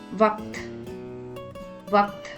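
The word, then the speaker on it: वक्त: The next word is vakt. In this word, the letter ka becomes the half letter and joins the letter tha, making it to sound ikt. Vakt, vakt.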